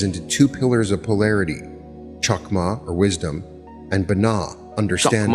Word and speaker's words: Chokmah: weird THs in Kether, the CH in Chokmah, right? You've heard me talk about that, so you understand. It should be better to write it with an H, Chokmah. You'll lead to a better pronunciation standard.